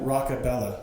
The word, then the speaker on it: Rockabella: Rockabella. Rockabella. So just like rock music, Bella.